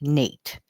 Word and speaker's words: Knate: His channel name is Just Knate, and Nate is spelled with a silent K in front of Nate.